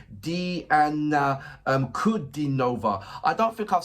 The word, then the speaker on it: Diana Kudinova: Correct pronunciation is Diana Kudinova.